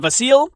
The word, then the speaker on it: Vasiliy: him called both, and apparently Vasil is the classic Ukrainian way to pronounce and spell it, but it's become Vasily to become more English-friendly over the years, so I may use both to keep everybody happy.